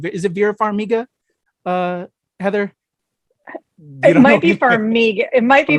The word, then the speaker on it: Farmiga: name is it vera farmiga uh heather it might be for me it might be for amiga okay i think it's with the hard g i think so yeah